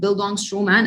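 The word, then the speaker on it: Bildungsroman: uh bildungstroman is a in itself the word build on stroman and this is how it's pronounced by the way it's a german term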